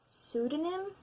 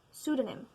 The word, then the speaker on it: pseudonym: Do you ever consider writing under a pseudonym? Pseudonym. I'm guessing the P is silent.